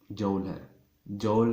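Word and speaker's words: joule: Unit जौल था, और इसका भी हमारे पास जौल है या जौल, जो भी प्रोनाउंसिएशन आप करना चाहें।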